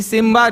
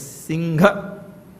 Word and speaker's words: Singha: Simba comes from Singha. Huh? Lion King, yes. See, Simba they put, actually Singha. They don't know how to pronounce his name properly, you know. We have to tell them how to pronounce his name. His name is Singha.